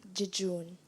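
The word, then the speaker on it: jejune: speech it's an adjective am I pronouncing the word correctly jejun yes jejun j e j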